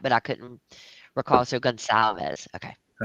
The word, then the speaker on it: Gonzalez: I thought there was a It doesn't It doesn't You don't pronounce it the way it's spelled. It I knew that, but I couldn't recall. So, Gonzalez.